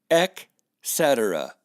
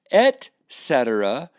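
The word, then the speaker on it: et cetera: a northern Turkish lettuce at cetera is how it's pronounced look carefully there's not even a K in the word here's another ask it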